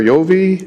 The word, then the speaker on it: Joi: correctly incorrectly Joi is it Joi or yi yi yi okay thank you welcome